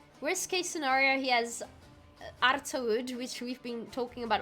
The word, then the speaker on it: Artaud: Worst case scenario, he has Artaud, which we've been talking about all stream, which isn't pronounced Artaud, but Artau or something.